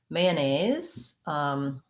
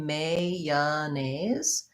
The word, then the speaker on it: mayonnaise: spelling here two ends mayonnaise has also i think more than one acceptable pronunciation so i can say mayanese with um may yeah that's the this year and a mayonnaise with a z people will also say